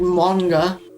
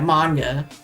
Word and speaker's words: manga: Like manga.